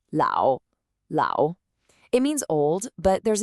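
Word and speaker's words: 老: It's l and it's pronounced lao.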